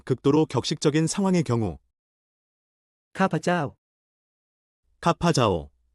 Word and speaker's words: ข้าพเจ้า: 공식 연설이나 의식과 같은 극도로 격식적인 상황의 경우 ข้าพเจ้า 카파자오, 중간 음절을 강조처럼 들립니다.